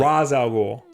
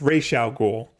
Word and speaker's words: Ra's al Ghul: never have known well they pronounced his name wrong in the Christopher Nolan movie yeah where they call him Ra's al Ghul it's racial cool that's that's the that's